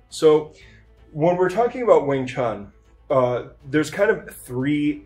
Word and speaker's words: Wing Chun: then you have now keep in mind they're all pronounced Wing Chun they're not pronounced differently there there are um total